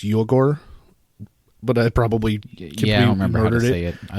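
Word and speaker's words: Uyghur: ethnic minority people and I old mispronounced I think it's you Accor but I probably yeah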